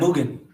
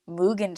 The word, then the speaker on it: Mugen: do you say it i said moogan you get again let me try it demon slayer the movie mugen train so we have tanjiru